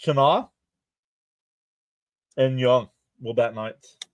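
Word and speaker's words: Tena: Tana, I believe it's pronounced Tana.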